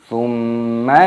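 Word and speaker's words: ثُمَّ: Thumma la tarawunnaha 'ainal yaqin. Di sini mimnya dibaca dengung. Mim tasdid hukumnya dibaca gunnah, berdengung, dibaca thumma, seperti itu.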